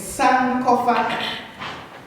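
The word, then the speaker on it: Sankofa: so I created the operation sand cofa it's San cofa and coming on to line with I'm very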